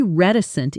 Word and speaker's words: reticent: He's usually reticent in meetings, but when he does speak, people listen carefully. Pronunciation. Ret- i-cent. Reticent.